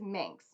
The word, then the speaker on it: Manx: It took me a long time to figure out how to say that and what the proper pronunciation of it is, but it is Manx. I kept saying minx for whatever reason.